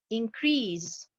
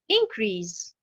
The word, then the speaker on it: increase: Comme par exemple le mot increase. Alors, je mets bien sûr l'accentuation sur la dernière syllabe et j'aurai le verbe augmenter. Si je mets l'accentuation sur la première syllabe, la prononciation va être bien sûr différente. On aura increase et qui veut dire augmentation.